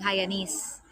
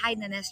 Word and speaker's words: Hainanese: hainanese chicken hainanes now because i grew up with saying hyanis but then nice but it's hainanese chicken bianca they would say